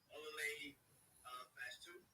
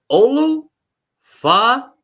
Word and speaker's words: Olu Fashanu: Olale Fast 2, offensive lineman, Penn State. Yeah, you butchered the hell. Yeah, you butchered it, man. You butchered it. It's Olu Fashanu. What you just said. That's exactly what it is.